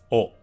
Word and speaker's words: を: but then gradually in more modern times it's pronounced oh but I did see that some people in